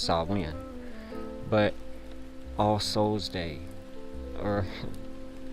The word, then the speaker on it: Samhain: Properly pronounced Samhain.